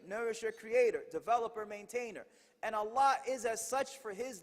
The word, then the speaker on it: الله: Allah pronounced A-double-L, exhale with love, Allah.